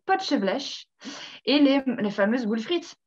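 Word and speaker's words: Potjevleesch: Donc, nous avons le potchevêche aussi, qui s'écrit donc Potjevlesch, le potchevlesch, et les fameuses boules frites, évidemment.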